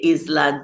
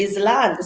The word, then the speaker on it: island: can you teach us that is is and l-a-n-d is land so when you put them together how do you get island it's island yes all right so this